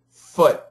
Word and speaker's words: foot: foot foot foot foot it's short the same thing here foot smush foot smush foot foot foot foot make the sound go down foot foot good food